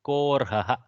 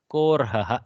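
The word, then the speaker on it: कोऽर्हः: Kaha Arhaha is Korhaha. This almost should not be even pronounced by us. Korhaha, like that we have to read.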